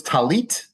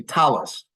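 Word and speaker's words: טלית: at the prayer service notice by the way in Hebrew it's talit but in yish pronunciation you'd say Talus this hard T at the end often becomes an s in the yish OR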